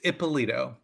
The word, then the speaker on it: Ippolito: lot of people do it's ippolito it's an Italian name and it's long and it's got lots of syllables but that's what it